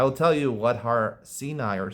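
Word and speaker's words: סיני: Everyone pronounces it Sinai, but who says you pronounce it Sinai? There's no vowels here in the Gemara. Sini. Sini. I know in the Torah it's pronounced Sinai, but again, the Torah also doesn't have vowels.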